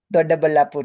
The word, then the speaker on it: Doddaballapur: Ankita, just a correction on the pronunciation. Doddaballapur it is.